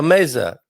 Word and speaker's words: mesa: So, for example, if you have an S between 2 vowels, the sound is, how do you say house? Or casa, a mesa. Casa, mesa. Right. So the sound turns into Z, like the Z.